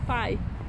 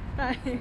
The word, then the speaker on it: pai: Pai. Pie. That's the word for that. Pie.